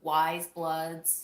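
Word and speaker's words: Weyes Blood: obsessed but I loved listening to wise blood's newest album her name is spelled w-e-y-e-s blood I tend to like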